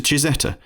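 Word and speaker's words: Cizeta: name was added to chizeta the italian pronunciation of zampali's initials the former engineer also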